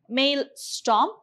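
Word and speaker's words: maelstrom: we have male storm you pronounce it as male storm so this is a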